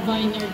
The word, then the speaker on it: vineyard: So, nung college ko yun, natutunan natin mag-pronounce. Kasi vineyard. Dati akala ko vineyard. Kasi diba vine? Tsaka medyo social pag vineyard, pero it's wrong.